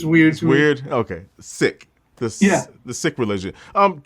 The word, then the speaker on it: Sikh: religion it's is pronounced seek sick similar to like ill but you know there's a bit of an emphasis on the kh but um the the